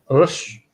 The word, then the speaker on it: respeito: So rish, soft E, and that sound that you're not used to doing, that almost shushing sound. Rish. Respeito. Respeito. Yeah, peito. So when we get like an E and I together, it becomes like an A sound.